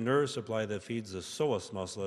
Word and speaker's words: psoas: The intestine is fed by the same nerve supply that feeds the psoas muscle. It's spelled P-S-O-A-S, psoas, pronounced psoas muscles.